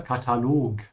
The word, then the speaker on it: Katalog: So stretch the O here, Katalog.